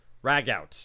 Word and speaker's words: ragout: No, it's spelled specifically and pronounced ragout here.